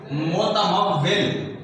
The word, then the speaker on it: متمول: متمول، میم پر پیش، تے کے اوپر زبر، پھر میم کے اوپر زبر، واو کے نیچے زیر، اوپر شد اور لام کے اوپر جزم.